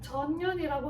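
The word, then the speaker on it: 전연: 세운 저면이라고 하는 국가인데요이 전현이 전면 발음 조심하셔야 돼요 전년이라고 하는 선비족의 세무 국가가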